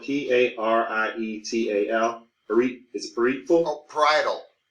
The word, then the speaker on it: parietal: It's spelled P-A-R-I-E-T-A-L.